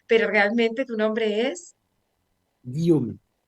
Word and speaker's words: Guillaume: Guillaume, pero efectivamente son con fónicas muy francesas, entonces solo los franceses lo pueden pronunciar. Pero es Guillaume.